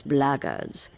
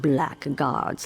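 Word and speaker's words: Blackguards: If you're another one of those blackards, and that's the way to pronounce it, not black guards like that thug insisted it was, then my answer is the same.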